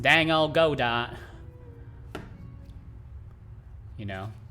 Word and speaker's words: Godot: don't say go dot most normal people say godot uh i guess if you want to be a contrarian and look really uneducated you could call it godots uh good yeah i